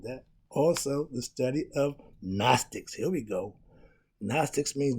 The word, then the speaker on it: gnostic: gnostics means to know the g is silent okay when you have